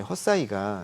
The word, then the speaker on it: Hesai: 요게 이제 헛사이가 이제 글로벌 라이다 쪽에서 1위거든요. 시장 점유율이. 헛사이라고 발음해야 돼요? 헛사이, HESAI.